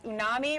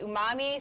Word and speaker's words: umami: So there's unami, right? Is that how you say it? Okay, umami, savory, sweet.